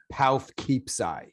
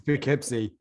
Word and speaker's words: Poughkeepsie: it and say it you might say something like half keepsai however that would not be correct it's poughkeepsie so i'll stop talking